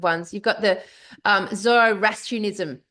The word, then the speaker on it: Zoroastrianism: you've got the Um, Zoroastrianism. Zoroastrianism. I don't know how I'm pronouncing that. Zoroastrianism. Yeah.